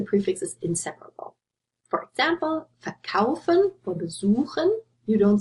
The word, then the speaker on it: verkaufen: For example, verkaufen or besuchen, you don't say verkaufen or besuchen. So you see the stress is on the stem here, they are inseparable.